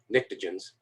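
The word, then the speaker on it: pnictogens: group is the nictogens starts with a p a silent p n i c t o nictogens carbon boron don't have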